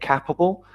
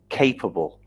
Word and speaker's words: capable: your you're pronouncing it capable and it's pronounced capable so it's the a sound yeah capable capable yeah